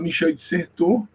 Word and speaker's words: Michel de Certeau: A pronúncia do nome, eu tive como professor o Google Tradutor, então ele sempre falava Michel de Certeau.